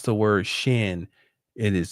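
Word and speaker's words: שין: the letter Shin I've talked about when you pronounce the word Shin it is sh the nun on the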